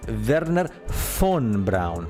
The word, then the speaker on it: Wernher von Braun: that correctly, Werner von, because the V in German sounds like an F, so it's Werner von Braun.